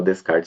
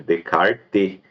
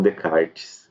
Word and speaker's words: Descartes: decart enfim ou Descartes Tem gente que fala Descartes mas tá errado tá é decarte não se fala o s Alguns falam decartes e me parece que talvez dê para se pronunciar dessa forma mas com certeza não se pronuncia Descartes eh enfim né para